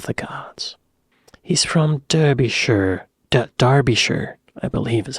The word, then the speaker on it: Derbyshire: Derbyshire, I believe is how it's pronounced.